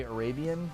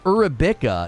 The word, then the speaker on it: Arabica: Trying to say Arabian? No, it's not Arabian. It's Arabica. It's spelled like Arabica, like an Arab person, or like Arab food or something. It's spelled like Arabica, like Arab.